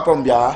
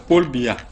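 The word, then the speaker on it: Paul Biya: Non, il faut bien prononcer son nom. Pombia, c'est quoi? On dit que quoi? Ce n'est pas Pombia. C'est Paul Bia.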